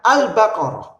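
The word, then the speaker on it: البقرة: qamariah ya tuba Hai cara membacanya al-baqarah al-baqarah al-baqarah ya jadi bacanya alif lam nya dengan jelas kemudian wasiatun dimasukin alif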